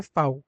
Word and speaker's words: V: बोलते हैं इंग्लिश में बट आप इसको जर्मन में जब ले आते हैं तो जर्मन में इसको बोला जाता है फाऊ क्या बोलेंगे इसको जर्मन में आप हमेशा फाऊ हमेशा ध्यान रखें जर्मन में वी को क्या बोला जाता है फाऊ फाऊ फाऊ फाऊ ओके नेक्स्ट वर्ड